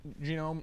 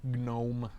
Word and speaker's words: GNOME: a mac all right i'll run anything but genome yes yes or no gnome however you want to pronounce it okay um let's get back into